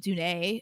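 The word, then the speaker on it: Dunne: to a point where hearing people not say Pete Dune it feels like they're saying his name wrong that's how I feel uh in my head I say Pete dun and when I hear you say it it sounds normal still like I just think that's how you say it and I just it rers and I just that's it like I don't say Pete D like that sounds weird to me now I go both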